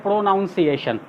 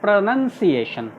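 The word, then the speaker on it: pronunciation: जैसे ये वर्ड अभी हमने बोला प्रोनाउंसिएशन, इसको भी कुछ लोग बोलते हैं प्रोनाउंसिएशन, क्योंकि स्पेलिंग जो होता है वो लगभग सेम होता है। देखिए यहाँ यहाँ लिखा गया PRONOUN, तो उसको तोड़ कर हम लोग को पढ़ने की आया तो हम लोग बोलते हैं मिस प्रोनाउंसिएशन, जबकि वो प्रोनाउंसिएशन नहीं है, इट्स प्रोनंसिएशन।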